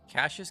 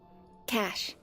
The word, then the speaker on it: cache: Cashaches. Caches. How do we say that? You know what? Let's Let's look it up. Let's ask the internet. Internet, how's this word pronounced? Cash.